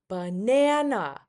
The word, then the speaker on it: banana: Let's look at another word. Banana. Banana. Which syllable is stressed out? Which syllable is higher pitched? Banana. Banana. It's the second syllable.